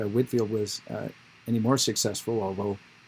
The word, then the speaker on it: Whitefield: without the e so whitefield or whitfield its pronunciation is whitfield it may have been he may have been